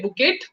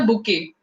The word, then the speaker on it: bouquet: Here T is silent, so don't say bouquet. It's a bouquet. Okay, a bouquet of flowers.